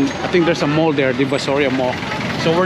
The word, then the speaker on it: Divisoria: Oh, Divisoria. I've been saying it wrong. Wow, Divisoria. So, look at this, guys.